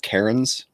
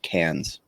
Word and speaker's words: Cairns: to point out that this word here, CAIRNS, in America, we would call that Karens, but in Australia, you'd pronounce it like cans.